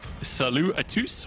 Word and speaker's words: Salut à tous: I'm not sure you pronounce the S at the end of it. Would it not just be... You do, I asked.